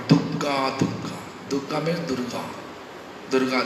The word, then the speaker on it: Durga: you're living for Calcutta, they say Dugga. Bengali tradition, old lady, who has no understanding about Krishna, no understanding about Hare Krishna Mahamantras benefit, they are always pronouncing this word Durga, Durga.